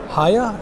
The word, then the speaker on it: Hiya: This is from Hiya, H-I-Y-A. Oh, I'm pronouncing it right.